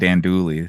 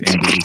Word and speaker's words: andouille: I said andouille. It's andouille sausage.